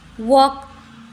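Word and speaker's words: walk: L silent हो गया वक यहां पर भी एल साइलेंट फॉक य पर भी एल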